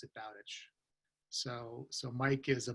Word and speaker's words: Bowditch: mispronounced as far as Mike's last name I pronounce it Bowditch because I I saw it written before I